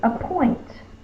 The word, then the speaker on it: appoint: The next word is appoint. Appoint. I will appoint a new judge. That's the schwa. With the unaccented vowel.